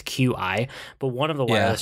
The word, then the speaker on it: Qi: So I got one of these, I think they're pronounced Qi chargers. It's Qi, but one of the wireless chargers.